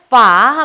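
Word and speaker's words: ฝา: 중요 한 점 은 이 글자가 F 소리 를 내기 때문 에 단순히 'P' 로 발음 해서 는 안 되고 , 'F-f-f' 처럼 F 소리 로 발음 해야 한다는 것 입니다 .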